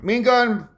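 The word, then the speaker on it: Ma'iingan: You pronounce it like mean, to be cross, gun, mean gun.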